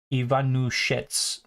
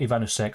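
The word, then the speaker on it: Ivanušec: So how do you pronounce Ivanusek? Ivanushets, not Ivanusek. Okay, thank you for that.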